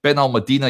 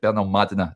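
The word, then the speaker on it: Benalmádena: or it's called it Ben Al Medina. Yesterday I was corrected. Benal Madina is the correct pronunciation of that that lovely little town over in Spain.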